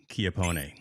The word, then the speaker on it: Chiappone: It's in Chiappone.